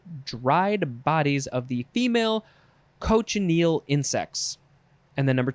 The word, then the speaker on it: cochineal: Okay, next is, so I think it would be pronounced cochineal. Cochineal. I would want to say cochineal, but clearly I'm wrong.